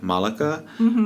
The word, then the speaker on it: Malikah: when it's something like malikah which is you can make it sound like saying the Monica with the L I think makes it much easier but not a lot